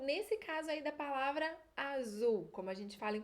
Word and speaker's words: azul: caso aí da palavra azul como a gente fala em português o z com a pronúncia da América vai ter um som de s tarde essa e forte